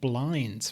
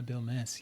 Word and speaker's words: Bilmes: I had to write down phonetically how to pronounce it because I kept saying blinds for some reason I even spray essentially yeah